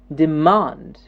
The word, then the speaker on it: demand: stressed syllable important good the next one is demand demand here the mom gets the stress demand demand demand and